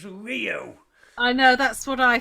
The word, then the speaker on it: Rio: It's Rio. It's a phonetic language. The I is always pronounced E.